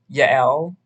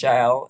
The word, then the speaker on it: Yael: So specifically, I would recommend Yael, or I think it's pronounced Jael in this context.